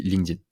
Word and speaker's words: LinkedIn: prononce à l'anglais a donc ça se dit linkedin mais sûre on ne